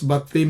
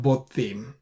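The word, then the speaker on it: בָּתִּים: So even though it is an unstressed closed syllable, it says it's batim, not botim, right?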